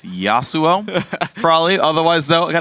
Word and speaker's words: Yasuo: doesn't know very well though is how to pronounce the name Yasuo it's Yasuo probably otherwise though I got to say he's